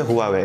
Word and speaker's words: Huawei: হুয়া একটা Chinese brand যেটাকে অনেকেই হাওয়াই হওয়াই বলতে পছন্দ করি বাট এটা একচুয়ালি উচ্চারণ হচ্ছে huawie যেটা আমি নিজেও বলে